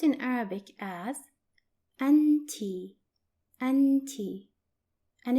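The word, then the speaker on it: أنتِ: and you are for feminine singular which is pronounced in Arabic as anti and tea and it's written like this notice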